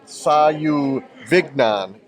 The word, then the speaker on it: Sauvignon: And it's Sauvignon, like filet mignon.